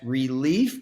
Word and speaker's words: Releaf: which obviously is pet relief but spell that like leaf on a tree so r e l e a f dot put it here